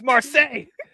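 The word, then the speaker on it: Marsai: First of all, you said it wrong and you spelled it wrong, Bruce. I just copy what he wrote. It's your fault. Her name's Marseille. How am I supposed to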